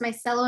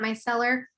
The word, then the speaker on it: micellar: micellar water yes so nancy told me it's pronounced my cello not my seller and then i've heard